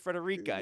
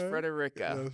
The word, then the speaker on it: Frederica: you yeah oh yeah a lot of people pronounce it Frederica no no it's Frederica Frederica but um we actually